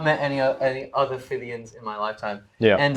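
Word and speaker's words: Phythian: I had growing up in primary school, I had a friend, Jack Fivian, and Fivian, the name is Greek, I think, in origin.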